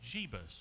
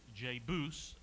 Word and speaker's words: Jebus: okay you will see a place called jeebus or sometimes J Boos as some people will call it and that will eventually